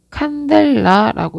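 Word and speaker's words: candela: 자, 아까 처음에 이렇게 전구에서 나오는 것을 광속이라고 했고 LM, 루멘이라고 읽는다고 했습니다. 자, 이때 이 세기를 나타내는 것을 광도라고 했고 칸델라라고 읽는다고 했어요.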